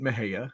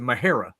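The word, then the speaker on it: Mexia: right it's spelled m-e-x-i-a right so you could pronounce it Mahaya right just like you would do Tejas you know but then the the locals there they pronounce it mahera they put a air they put an r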